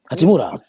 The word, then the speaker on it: Hachimura: And shout out to Ichimura. I don't say his name. Hachimura.